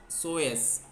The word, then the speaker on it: psoas: इसका P silent है, PS। सर एक बार और बताइए उसकी। हाँ बता रहा हूँ, PSOAS, सोएस, P साइलेंट है इसमें, सोएस, PSOS, PSOAS, सोएस।